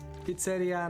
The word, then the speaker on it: pizzeria: Pizzeria, not pizzeria. Oh, I see. The emphasis on I, right? Pizzeria. Pizzeria. But you know, I'm speaking English, not Italian, so it's like pizzeria. I'm sure in Italian it's pizzeria or something like that.